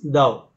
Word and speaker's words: Tao: And the ancient Chinese Taoist system called him Tao, T-A-O, but it is pronounced as Thou.